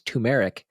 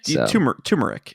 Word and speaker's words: turmeric: how to say it i was pronouncing it as tumeric and chat corrected me and they did like the phonetic spelling yeah and basically it degraded into peach ginger turmeric tea yeah turmeric that's like tumor it's not tumeric i'm